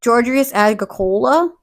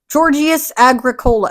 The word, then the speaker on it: Georgius Agricola: the D Metallica's author georgius agola I butchered that georgius Agricola remember it's like Coca-Cola at the end but he was a